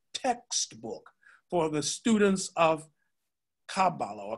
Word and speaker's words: Kabbalah: His other primary work, Talmud Esser Sheferot, is regarded as a central textbook for the students of Kabbalah, or Kabbalah, so you pronounce both ways, both ways.